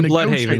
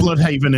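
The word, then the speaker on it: Blüdhaven: If it's in Germany, I imagine they'll pronounce it Bloodhaven or whatever. But it's America, and Americans do what Americans do: dub it down.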